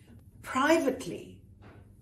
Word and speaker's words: private: Privately. Is that a schwa? No, actually it's an I. So private. It's like an I sound.